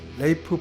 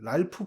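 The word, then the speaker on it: Ralph: 그리고 조디 커머, 아론 테일러 존슨, 알피 윌리엄스, 레이프 파인즈, 랄프 파임즈, 랄프 파인즈라고 읽는데 사실은 자기 이름은 레이프다라고 항상 주장하고 있는 배우입니다.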